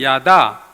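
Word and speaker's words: יָדַע: 4장과 6장은이 안다고 하는 히브리 동사는 야다라는 발음으로 읽는데 구약 성경에 이게 한 940번 정도 이상 나온다고 알려져 있고요.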